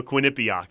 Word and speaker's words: Quinnipiac: quinnipiac is it was it wasn't merrick winnipeg no quinnipiac is how you say quinny what quinnipiac i don't know if